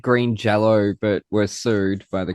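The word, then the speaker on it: Green Jellÿ: to green jelly but with an umlout over the Y which still makes it sound like jello even though it's spelled green jelly.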